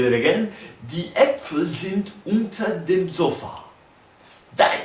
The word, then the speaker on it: Äpfel: Let's do it in plural, which I figured out that it's actually Äpfel. So the double dot on top of the A actually changes the pronunciation from Apfel to Äpfel, or Apfel.